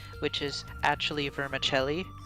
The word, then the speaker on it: vermicelli: like cake all right and then there's also varmizely which is actually vermicelli right yes we just pronounced things wrong which is like uh some